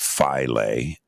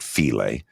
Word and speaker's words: Philae: It's called Philae. Some call it Philae. The Egyptians were pronouncing it Philae. So kind of like filet, right?